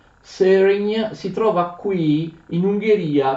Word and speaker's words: Szörény: A Söregn, così si pronuncia. Söregn si trova qui in Ungheria, vicino alla città di Pest.